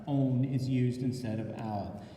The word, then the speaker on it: -one: So when naming a ketone, the ending -one, that's not 1, it's pronounced -one, is used instead of al.